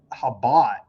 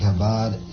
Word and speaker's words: Chabad: Here's Bob Dylan, and see, I've been pronouncing it wrong. It's the Chabad, because I don't speak the so I don't know how to pronounce it correctly. But I guess the C is silent. The Chabad.